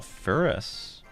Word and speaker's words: Ferrous: General Ferris. Ferris. Is it Ferris? Like ferrous iron. Pretty sure it's pronounced ferrous.